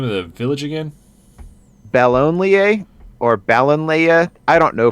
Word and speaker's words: Ballonlea: Bellonlier, or Ballonlea. I don't know for sure how it's pronounced. It's Ballonlea.